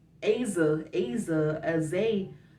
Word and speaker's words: Azah: of people was like aza aza as a it's awesome oh the h is silent i mean to me